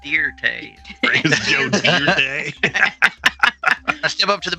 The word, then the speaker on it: Dirt: Joe Dirt close this it's not dirt it's pronounced deer de I step up to